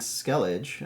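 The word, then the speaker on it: Skellige: So, I'm playing Skeleage, I think is how it's pronounced.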